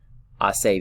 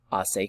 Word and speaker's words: hace: So this one is hace calor. Hace calor. Again, remember our H. We do not pronounce our H in Spanish. This isn't hace calor, right? Hace calor. The H is silent.